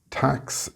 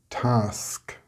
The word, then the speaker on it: task: You may be saying axe instead of ask, max instead of mask, tax instead of task, or flax instead of flask, and dex or text instead of desk, etc. If you are getting these incorrect results, then you are pronouncing an X instead of the sk sound.